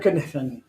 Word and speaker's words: Kniffen: Kniffen. Mr. Kniffen. The K is silent.